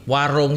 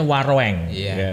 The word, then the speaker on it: Waroeng: ya Mas Ranto ya Warung Steak ini bacanya Waroeng betul Waroeng tapi kalau bacanya warung aja ya umumnya gitu iya ya sebelumnya asalamualaikum